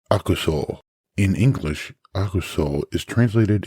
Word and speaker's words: 悪: The first being pronounced aku in this compound, meaning evil, wicked, wrong, bad, false, something along those lines.